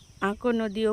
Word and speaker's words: আকন্দি: তবে এটাকে আকান্দি হিসেবেই বলা হয় বা আক নদীও বলা হয় অনেক এলাকায় উচ্চারণের ভিন্নতার ক্ষেত্রে।